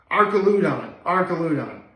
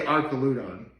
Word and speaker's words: Archaludon: let me pronounce this, Archaludon. Like Archer, Arc, okay. But Arcos, sometimes the H in Arc can be silent, so I'm going to say Archaludon.